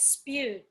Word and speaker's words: Espeut: means yes yes yeah my last name is spewed me well it's pronounced s pew and French comes from it's